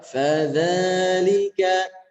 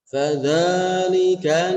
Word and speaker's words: فَذَلِكَ: Ayat yang kedua, fadzalika, fa, pastikan ketika kita menemukan huruf fa keluarkan anginnya, nafasnya. Fa, fadzalika alladzi yad'ul yatim. Dan cara pelafalannya jangan terlalu menekan, jangan fadzalika alladzi, jangan ditekan-tekan seperti itu, tapi rileks saja.